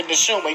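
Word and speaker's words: נשמה: The Neshuma, yes.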